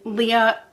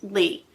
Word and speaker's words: Lea: a drug addict and Leah not Leah sorry I'm sorry I'm sorry her name is Lee it's spelled l e a but pronounced Lee okay okay so Lee